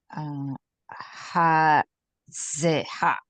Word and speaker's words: hazeh: dabar dabar ha ze ha Hazeh. hazeh When hey doesn't have a vowel, it means it is the vowel. So don't pronounce it as a consonant.